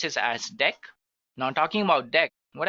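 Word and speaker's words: deque: it is written as DQ but we can pronounce this as deck now talking about deck what actually it is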